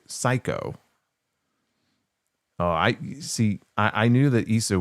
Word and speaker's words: Sikoa: His name is Sikoa. Remember Psycho Stu? It was spelled the same way, Syko. So he's a wrestler named Psycho.